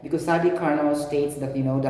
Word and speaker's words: Carnot: we have carbon cycle karna meaning silent t that's what we have